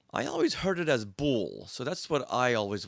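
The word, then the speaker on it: Boulle: She writes, the pronunciation of boule is not boule. Instead, it's boule that rhymes with pool.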